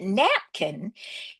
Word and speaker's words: napkin: Children actually learn how to mark words so that napkin is a VC CV with the accent on the first syllable.